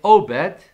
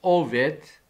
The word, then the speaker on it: Obed: And they call his name Obed, or in Hebrew, better pronunciation is Oved.